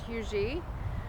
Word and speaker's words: Huger: it comes to and the consistent thing i've heard is hugee but it's h-u-g-e-r take it how you want no one has a